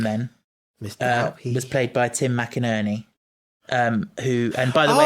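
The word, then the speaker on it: McInnerny: His name is Tim McInerney. And can I just say, in terms of the pronunciation, I have on good authority that is how it's pronounced, even though it looks like it should be McInerney.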